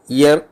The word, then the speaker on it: ihr: അവളുടെ എന്നുള്ളതിന് ഇയർ എന്നാണല്ല, IHR ഇയർ. ഇയർ house, അവളുടെ വീട്, ഇയറസ് ഹൗസസ് എന്നാവും.